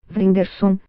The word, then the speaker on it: Whindersson: Vrinderson, pronuncia-se Whindersson, diz achar que seu sucesso fora do Brasil não se deve tanto às suas habilidades cômicas.